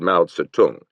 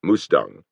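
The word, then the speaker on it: Mao Tse-tung: In a booming voice he lectured Ma Satung. He pronounced it Mustang Joan lie and their aids on five points of possible accord with the Quuoman tong.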